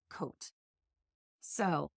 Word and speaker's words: Côtes: COTES is pronounced Côte. So...